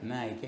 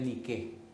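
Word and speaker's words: νίκη: Hay mucha gente que tiene tenis y su tenis dice en griego niqué, pero ellos lo pronuncian en inglés que es como Nike. En griego en realidad es nique significa victoria.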